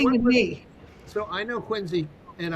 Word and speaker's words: Quincy: So I know Quincy, and I know how to pronounce Quincy, which is not Quincy. Quincy.